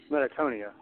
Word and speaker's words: Metachthonia: say it's metonia okay is the CH silent sorry I keep singing Because yeah in my head I'm I'm trying to think I want to say the C is silent or the CH might be silent because I think it's very much pronounced in the same way as Kulu the C is like a k sound if you actually I I just looked it up like phonetically it's metonia metonia yeah okay meton